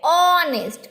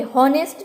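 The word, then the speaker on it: honest: हम बोलते हैं ऑनेस्ट। कहाँ से बोलते हैं? ओ से, ऑनेस्ट से बोलते हैं। एच, ह से नहीं बोलते, हॉनेस्ट नहीं कहते, क्या कहते हैं? ऑनेस्ट।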